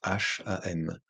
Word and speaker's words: Hum: Et vous offrez le son Hum, qui s'écrit H-U-M et qui se prononce H-A-M.